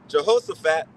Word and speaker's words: Jehoshaphat: Let the heathen be walked and come up to the valley of Jehoshaphat.